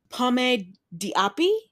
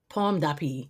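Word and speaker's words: Pomme d'Api: out of this title it's pom dii pom dppi that that just means little apple okay okay it's French so that was fun yeah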